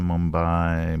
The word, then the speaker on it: Mumbai: Uh Mumbai pronounce uh Mumbai.